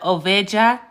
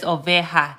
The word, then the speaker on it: oveja: So instead of oveja, this word is oveja. So the J is going to be pronounced like an H.